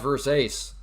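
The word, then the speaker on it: Versace: No, it's pronounced verse ace.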